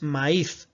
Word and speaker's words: maíz: Tenemos que fincar esa tilde para romper ese diftongo y bueno, mostrar gráficamente que tendríamos dos sílabas, maíz, y por eso en este caso fincaríamos esta tilde.